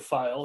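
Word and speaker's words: Pfeil: Swiss-made file knives, or feel. I don't know how you guys pronounce them. We pronounce it file.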